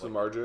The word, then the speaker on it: Samardzija: with starting pitcher Jeff Samardzija. Is that how you pronounce it? You always see the debates on Twitter and stuff. Samardzija would be correct. Yeah, that would be correct. Absolutely.